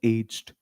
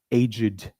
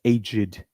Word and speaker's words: aged: So you pronounce it not as aged, you pronounce it as aged.